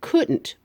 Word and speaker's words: couldn't: put it down she couldn't put it down again she we smoosh it together take out the O and then be careful to hit that T she couldn't put it down who has not read